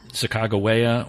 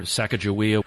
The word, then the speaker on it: Sacagawea: So why the different pronunciations, Sacagawea or Sacagawea?